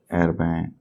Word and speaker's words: Herbin: निब है इंक, तो मैंने एर्बैन, या आप हर्बिन प्रोनाउंस करें तो भी मुझे कोई प्रॉब्लम नहीं है, बट मेरे ख्याल से हर्बिन इसका नाम नहीं है, एर्बैन प्रोनाउंस होता है। ये फ्रेंच नेम है।